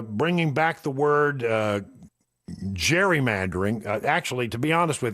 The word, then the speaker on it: gerrymandering: Yeah, they they they are uh bringing back the word uh gerrymandering. Actually, to be honest with you, I think the accurate pronunciation of is is gerrymandering because it was Eldridge Gary that was named